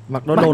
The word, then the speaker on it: McDonald's: McDonald's là nói kiểu du học. Nó đọc đúng rồi mà, nó đọc chuẩn tiếng Mỹ rồi đấy ông ạ.